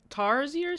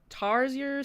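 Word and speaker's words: Tarsier: Um, Tarzier Studios, I think I'm pronouncing it right.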